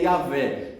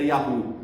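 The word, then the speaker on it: Yahweh: Então, a pronúncia, os estudiosos dizem, a maioria deles, o consenso é que a pronúncia é Yahvé. Nenhum estudioso sério, nenhum teólogo sério das escrituras, estudioso sério vai dizer que a pronúncia era Yahu.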